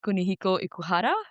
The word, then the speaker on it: Kunihiko Ikuhara: If I'm saying his name wrong, just tell me like Kunihiko Ikuhara?